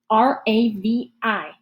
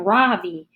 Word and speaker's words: Ravi: beside his desk r-a-v-i mrs bean has called him ravi but when he introduced himself earlier i'm pretty sure sure he said his name was ravi which with the accent on the second syllable as i reach down